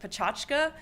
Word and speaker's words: Pecha Kucha: guess what is sometimes referred to as Pecha Kucha and some people into pronounce it potaka so however you pronounce it it basically means it's